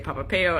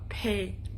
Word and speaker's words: Pape: I always get this name wrong. I want to say Papapeo, and that's not what it is. It's Pape. Oh, I want to say that Pape. Oh, I think I said that right this time.